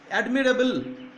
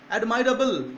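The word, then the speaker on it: admirable: ঠিক আছে, দেখো অ্যাডমায়ার আছে ভার্ব হিসাবে, এখানে অ্যাডমায়ার, অ্যাডমিরেবল, অ্যাডমাইরেবল এরকম উচ্চারণ করা হয়, অ্যাডমিরেবলও বলে, অ্যাডমাইরেবলও বলে। ঠিক আছে, অ্যাগ্রি আছে, অ্যাগ্রিয়েবল, দেখো দুটাতে অ্যাবল, এবিএলই যুক্ত হচ্ছে।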